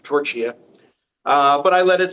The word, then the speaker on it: Torchia: pronounce my name right he called me Mr. Torcher instead of Mr. torch here.